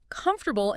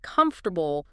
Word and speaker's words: comfortable: I remember a student who always stressed the wrong syllable in comfortable instead of comfortable.